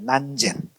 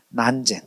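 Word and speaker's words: 南泉: 어 근데 저 마조 스님의 제자 중에 저 남전 스님을 중국에서는 저 남전을 한문으로 저렇게 쓰고 발음을 난젠이라고 발음해. 난젠 난젠 이게 이제 우리나라 사람이 듣기에는 난젠 난젠 난젠 남잔 남잔 이렇게 돼 있다고 이제 하는 거죠.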